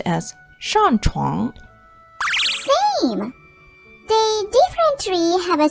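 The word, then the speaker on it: 上床: Getting into bed, going to bed is pronounced as 上床.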